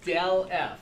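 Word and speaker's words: ∇: it we say that that del F that's how we pronounce this and yes they all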